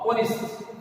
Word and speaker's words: honest: But even though the word begins with consonant, since the consonant H is silent, it doesn't sound. It sounds here, since the H is silent, it sounds an vowel sound, that is honest, honest, honest.